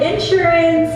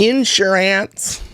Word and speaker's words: insurance: And we have insurance and... Insurance. Cars. You put the emphasis on the wrong syllable. It's insurance. Not in...